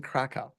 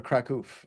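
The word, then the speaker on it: Kraków: a an office in Kaka or kakou I guess is how they pronounce it there and kou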